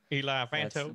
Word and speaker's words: Eli Vanto: Eli Vanto. That's the way he's pronounced in the audiobooks.